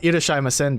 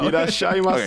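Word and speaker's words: irasshaimase: I mean, you've got Irashimasen down for the most part. Irashaima. He doesn't even say that wrong. You said it wrong this time, Robert. I know. Irashaimase.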